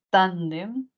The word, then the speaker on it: tándem: Luego tenemos acá la palabra, vamos a ver aquí, tándem, ¿no? Mayor fuerza de voz aquí, lo que nos da una palabra grave, y como termina en M, pues se lleva tilde.